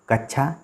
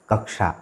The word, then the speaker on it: कक्षा: सही जवाब होगा वह कक्षा ठीक है तो जब आपको पेशाब की धार को और मूर्धन्य का प्रयोग करते हैं तभी से उच्चारण कक्षा शब्द का होता है क्वेश्चन नंबर 33 निम्नलिखित